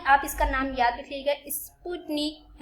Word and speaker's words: Sputnik: तो भाई आप इसका नाम याद रखिएगा, स्पुतनिक, है ना। इसका शायद मैं प्रोनाउंसिएशन सही कर रही होंगी।